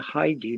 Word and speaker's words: Haiti: Haiti, or as it's pronounced in Spanish, the Heidi mine, is actually the Spanish pronunciation for the girl's name, Heidi.